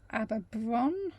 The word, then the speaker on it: Aberaeron: And then finally, we went along the road and went to Aberaeron, I believe it's pronounced, which is another pretty little town.